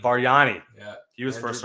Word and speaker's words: Bargnani: How do you say his Barghini or whatever? You know what I'm talking about? Bargnani.